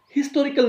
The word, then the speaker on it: historical: The next one is historical novel. More common, a historical novel. But sometimes people used to say historical novel. Historical, H is silent.